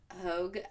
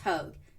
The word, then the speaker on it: Hauge: number two is Sam Hogue I think it's pronounced hug his last name is spelled h-a-u-g-e he does he just